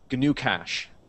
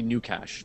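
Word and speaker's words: GnuCash: in beer um so G new cash it's accounting software that is open source you pronouncing the G I'm pronouncing the G it's maybe new cach but then it sounds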